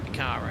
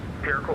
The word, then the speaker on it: Pirco: I always forget the pronunciation. Picaro, isn't it? It's Air 109, contact Pirco Oceanic on 126.5.